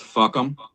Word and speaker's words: FUCAM: And that acronym is FUCAM, which is pronounced fuck'em.